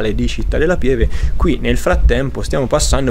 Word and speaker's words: Città della Pieve: ribadito il fatto che io pronuncio Città della Pieve come lo sentite e non come lo pronunciano loro, che è Città della Pieve con la E aperta.